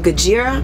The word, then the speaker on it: Gojira: had lamb Agha Trivium Gojira am I saying it right Gojira it goes yeah sounds close it up as a Japanese say they say gojira but when I was